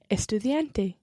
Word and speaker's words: estudiante: i am a student let's just practice that d sound in the middle of the word estudiente estudiante estudiante in spanish when you're using the letter d you've got to try to make sure that your tongue comes in between your teeth in english when we say the word dad or dog your tongue actually goes behind your teeth and up towards the hard palate of your mouth so in spanish you've